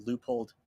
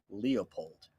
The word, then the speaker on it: Leupold: I don't know why people call Leupold Leopold.